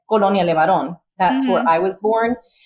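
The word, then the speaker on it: Colonia LeBarón: so it was the The libarian Colony is how you say in English but English but I've always said colon Leon that's where I was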